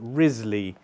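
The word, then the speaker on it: Wriothesley: Rizley, it's written Wrley. Henry Rizley. I think that's how it's pronounced.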